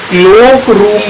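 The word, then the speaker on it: cloakroom: देखिए क्लोक रूम बोला जाता है, ना कि क्लॉक रूम।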